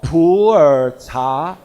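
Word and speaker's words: Pu'er: it is coming up in typical chinese pronunciation mandarin pronunciation called poor poor tea but with your typical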